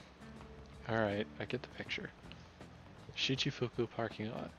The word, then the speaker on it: Shichifuku: I'll work in the Shichifuku parking lot.